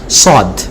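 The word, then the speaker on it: ص: এটার ক্ষেত্রে মুখটা একটু গোল করতে হবে, হ্যাঁ, যাতে সাউন্ডটা মোটা হয়, এবং সদের সাউন্ডটা জবর দিয়ে আমাদের অধ্বনি করতে হবে।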